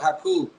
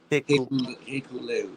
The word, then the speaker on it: Hikuleo: No, he's gonna come out with Hakuleo.